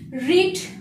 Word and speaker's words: read: হয়নি তাই have not তারপরে পাস্ট পার্টিসিপল ফর্ম রিড মানে পড়া এটা মেইন ভার্ব রিড থেকে রেড রেড প্রোনাউন্সিয়েশন হবে রেড কিন্তু স্পেলিং হচ্ছে একই মানে